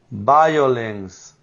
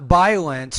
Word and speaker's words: violence: all right drought drought violence not CH not violence but violence violence you need to put more vibration on the V let's go back to